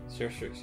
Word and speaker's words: Surstrix: For my main phase, I will pay 12, bring me down to 2, and play, correct me if I'm mispronouncing this, Surstrix? Surstrix, yeah. Surstrix.